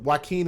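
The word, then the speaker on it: Joaquin: of California which is Sanwaqen County and Waqen is spelled J O A Q U I N just to let you guys know.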